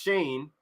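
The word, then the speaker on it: Schoen: jersey sales the Giants are working that is pronounced Shane I didn't know how to say it s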